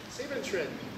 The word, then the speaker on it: Siebenschritt: Sieben-Tritt.